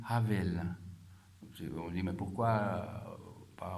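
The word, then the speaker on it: הֶבֶל: Abel, en hébreu, ça se dit Havel.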